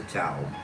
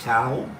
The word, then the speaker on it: Tao: But first, what is the Tao? It can be pronounced Tao or Tao.